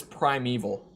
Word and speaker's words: primeval: Prim Primal however you how do you actually pronounce it God damn it there's a TV series pronunciation Prime eval Prime Evil it is primeval um Prime eval demons